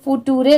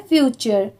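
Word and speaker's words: future: टी यू आर ई इसे फुटूरे नहीं पढ़ेंगे। बहुत सारे लोग इसे गलत प्रोनाउंस करते हैं। इसकी प्रोनाउंसिएशन है फ्यूचर। फ्यूचर ओके यहां पर टी की साउंड ट की नहीं आ रही है।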